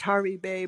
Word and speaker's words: Hervey Bay: And or would Hervey Bay, it's pronounced Harvey Bay, but it's spelled Hervey Bay, be a better option for us?